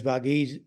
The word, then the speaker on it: Varghese: I mean, as Varghese, that's the right pronunciation, as Peter Varghese said in his report